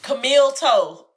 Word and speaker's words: Camille Toe: Camille Toe. That's it. That's it. That's a good one. Okay, I like that. Okay, toe is spelled T-O-H. Toe. T-O-H. T-H-O-E. Toe.